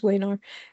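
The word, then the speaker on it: Wenar: find Leaf wear's definition that's how he pronounces his name definition of it should be vayar but he says wayar uh his definition of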